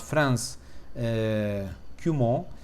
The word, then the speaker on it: Franz Cumont: de um autor chamado Franz Cumont, expressa o nome francês, e, portanto, estou a pronunciar de forma francófona, e o livro foi